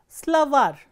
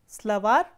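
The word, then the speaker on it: словарь: is stressed, for example, slavar, slavar ends with a soft consonant or a consonant with a soft sign, slavar, and you can see that the last syllable is stressed, var.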